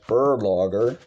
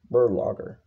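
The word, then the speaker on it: Berlogger: yoke yugosla oven uh last name is actually pronounced burlager maybe the profession was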